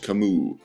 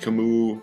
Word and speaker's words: Camus: by examining the life of its author Albert Camus and yes it's pronounced Camus not Camus to MU was born november seven